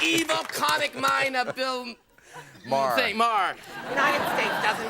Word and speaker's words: Maher: It's pronounced Maher.